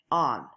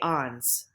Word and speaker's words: ans: Kind of like the book is on the table, but think of it with an AH sound.